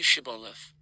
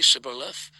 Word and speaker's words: Shibboleth: They would ask the fugitive to say Shibboleth. If he was from Ephraim, he would say Sibboleth, because people from Ephraim cannot pronounce the word correctly.